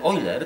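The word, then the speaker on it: Euler: no nie bo ten oiler ten wielki matematyk widz patr czyta się oer pisze eer ten oer on odkrył że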